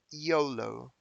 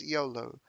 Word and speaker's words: YOLO: um at the dictionary yolo the pronunciation is yolo and it means you